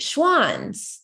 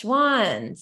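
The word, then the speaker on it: Schwan's: But I'll look into Swanson a little bit and see what kind of Oh, wait, Schwann's. That's it, right? Yes, Schwann's.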